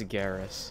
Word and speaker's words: Garrus: It's Garrus.